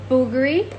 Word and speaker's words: Bulgari: look at this Bulgari okay I'm going to bulgary is the correct saying but I don't know